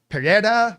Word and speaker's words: Pereira: we talk about Alex everybody pronounces his name different Round Tree pronounces it Pereira that's how I've always said it yeah uh the guys on the UFC broadcast say Perera or something like that I always say Pereira forgive me if you think I'm mispronouncing it but he's a Terminator